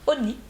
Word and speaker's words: Honey: Ça se prononce Honey et pas Honey comme j'avais dit. C'est Honey, il faut penser à George Clooney.